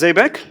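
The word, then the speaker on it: Zeybek: the first group by the students of Miss Al if it's actually pronounced as Zbec right thank you so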